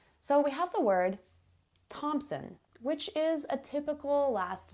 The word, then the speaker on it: Thompson: TH words that don't sound like TH at all.